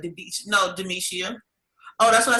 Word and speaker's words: Demishia: just like yeah okay long as you say it at all still all four syllables get it out and